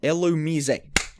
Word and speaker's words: Illumise: oh god how do i pronounce illumise illumises illamise illumizay got it right how do i pronounce my